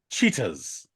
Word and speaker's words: Cheatahs: from a band called cheaters all right and it's not spelled like the animal it's ch h c h e a t AHS okay um yes gas um